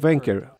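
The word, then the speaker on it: Wenkert: Omer Wenker, pronunciado Wenker, Omer Neutra, Abraham Munder, Agam Berker y Alexander Lobanov.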